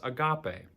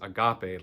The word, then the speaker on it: agape: then the third greek word for love is agape agape a-g-a-p-e is how we spell it in transliteration but agape is love for